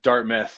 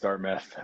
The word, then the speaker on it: Dartmouth: was in medical training out of dartmouth is pronounced dartmouth my bad yeah no it's